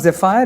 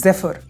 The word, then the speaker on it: zephyr: Again, the pronunciation I'm reiterating for you is not Zephyr, it is Zephyr, a soft, gentle breeze.